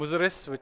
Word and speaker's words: Muziris: So it's at one point in history, this port, which I mentioned, Muziris, or Muchiripatnam, from the Indian pronunciation, was the biggest port in the world.